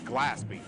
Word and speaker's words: Gillespie: to make sure I get his name pronounced right it's glasby glasby so cutting back up